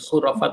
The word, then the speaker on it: khurafat: C-nya itu dulu CH kan dibacanya khurafat itu ch ya. K itu pakainya CH dulu.